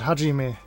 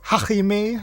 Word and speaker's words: Hajime: But for some reason, all of the voice actors from the olden days, they tried to pronounce like half Spanish, I suppose. So it was Hajime with a very guttural sound in there, which definitely didn't sound right, even at the time.